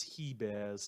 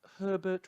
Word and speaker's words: Hebert: failing to pronounce miss he bears name right that's he bear rhyming with she bear not herbert rhyming with sherbert or Hebert driving with Ebert thanks to Mister MOG